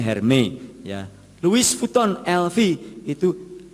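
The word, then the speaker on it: Hermès: Minta tas Hermes Hermes Hermes itu bacanya hermi ya kalau Hermes itu saya ingatnya ayam goreng kremes sudah Dayat kalau Hermes bacanya hermei Ya Louis Vuitton LV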